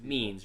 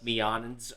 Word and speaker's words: Means: It is pronounced Means, right? It's not like Meonins or anything like that.